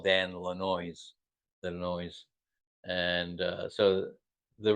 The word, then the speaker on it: Lanois: People don't know how to say it properly, and people call him Le Noise. And so Neil would always call Dan Lanois, the noise.